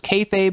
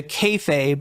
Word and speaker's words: kayfabe: tradition know known as kayfabe which is carne speak for be fake, right? It's kind of like pig Latin. You invert the syllables and you you you turn be fake into kayfabe, right?